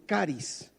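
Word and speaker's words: χάρις: La palabra que se traduce al español como gracia es una palabra griega que se pronuncia más o menos como caris.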